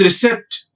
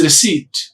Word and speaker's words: receipt: We are writing RECEIPT, CIEPT. It seems it is recept, but it is receipt.